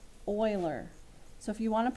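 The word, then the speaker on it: Euler: Swiss math mathematician and you say his name Oiler Oiler so if you want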